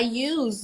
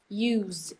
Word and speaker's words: use: um the thing is if you are talking about the verb to use then you're gonna pronounce it with a z I use my phone a lot used as the verb but if you are using it as the noun use there's no use in that useful useless ha so